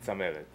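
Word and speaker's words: Tzameret: How do you pronounce the last name? Zameret.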